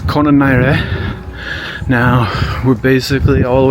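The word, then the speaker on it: Colonarie: It's no L. So, it's Konare.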